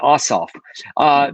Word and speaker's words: Ossoff: and justice candidates, Reverend Ralph Warnock and John Ossoff." I never say his name right. Ossoff.